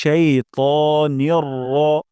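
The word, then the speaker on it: الشيطانِ: আমরা রা বলে ফেলি এখানে রা বলবো না র বলবো মিনাশ শাইতানির নির রা বলবো না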